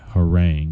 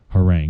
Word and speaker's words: harangue: to our next word which is whoring it is spelled har a and gue her rank it's a noun har a and gu e or rank but you also you